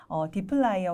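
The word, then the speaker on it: dplyr: 그 다음에 요거는 어떻게 읽어야 될까 처음 단어를 보시고 고민하는 분들이 계실 수 있는데 디플라이어 혹은 디플러 이렇게 발음을 합니다.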